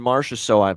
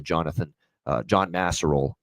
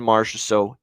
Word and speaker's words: Marchessault: Jonathan Marchessault, him calling him John Masserole is one, and the other is, of course, our guy, Oliver Ekman-Larsson, Oliver Lossum Tossum.